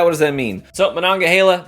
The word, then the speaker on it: Monongahela: It's really fun watching other whiskey YouTubers and writers and content creators try to pronounce Monongahela. It's humorous. I've heard Monongahela. I've heard Manila, Mongola.